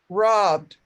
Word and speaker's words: robbed: Rob, rob robbed. Rob. So you just rob, Rob. and then the ED, you just sound the D. So you don't really say that E, robbed.